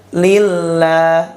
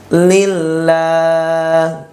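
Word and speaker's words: لله: kedua ini ya fabilillah lafaz Allah diduli kasrah bacanya lillah lillah tidak boleh ditebalkan huruf lamnya ya Jangan dibaca lillah lillah lillah ya seperti itu tapi lamnya tipis lillah dan apabila lafaz Allah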